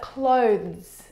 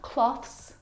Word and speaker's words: clothes: But clothes clothes not cloths not clothes and not clothes either. The difficult thing about the pronunciation of this word is the two consonant sounds v and z together. Both of those sounds are voiced consonant sounds.